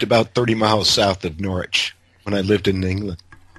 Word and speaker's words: Norwich: didn't realize until well if you're a nor witch fan then you should you should pronounce it Norwich yeah I know I